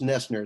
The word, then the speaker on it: Noesner: make a small correction my last name is pronounced nesner it's just a silent o um everybody gets it